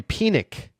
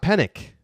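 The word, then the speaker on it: Penick: that the Tex and pronunciation of the name the namesake of the course is Harvey pck not penck so I've been saying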